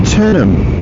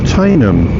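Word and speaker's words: Teynham: Into the village of Tenham. Or Tainham. Or however you want to pronounce it, but I say Tenham.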